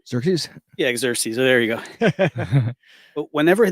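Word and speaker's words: Xerxes: the Persian exes or something anares I can't pronounce his name xeres yeah xeres there you go but whenever they came back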